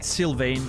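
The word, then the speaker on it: Sylvain: do you spell it syane um like silven but you know like the trees silven but with a i n e at the end San s y l v a i n e the album is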